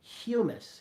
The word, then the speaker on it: humus: brown spongy stuff called humus. Humus. You may want to pronounce it like hummus, like that delicious chickpea.